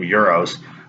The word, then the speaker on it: gyros: So in Greek, they eat a lot of, as we would call them, gyros. They pronounce them euros, but it's pita bread with the vegetables and sauce and meat inside.